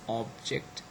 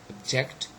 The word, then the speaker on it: object: So look at all those words: object, conduct, and present. And all of them, they are all nouns, and that's why the first syllable is stressed.